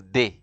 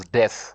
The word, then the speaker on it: des: pronounce you see you you pronounce this day you don't pronounce death you say we say day these articles refer to